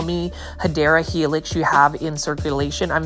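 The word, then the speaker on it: Hedera helix: Look at that massive Heedra helix or the correct way to say it is, say it with me, Hideera Helix.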